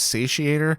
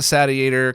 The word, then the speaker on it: Satiator: The last time I talked to Professor Abrasive and asked him, I believe he said it was Satiator, but I also think that